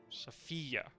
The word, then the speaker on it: Sofia: The stress is on the fi bit rather than the sof bit. Sofia.